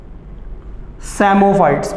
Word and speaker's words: psammophytes: एंड अगर sand पे कोई प्लांट ग्रो करता है तो उन्हें हम कहते हैं सैमोफाइट्स। पी साइलेंट है।